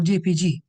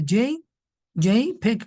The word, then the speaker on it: JPEG: You call it JPEG or JPG. It's a JPEG format, pronounced this way.